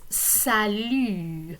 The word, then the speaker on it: salut: note is salu and you will notice that it is the very same mu sound so we need it not only for the pronoun to but also for the greeting the informal greeting salu so it's a way